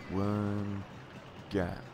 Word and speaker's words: Worm Gat: Worm Gat. With a hard G.